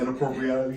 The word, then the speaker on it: Inappropreality: Oh man, it's how you pronounce it, inappropriality.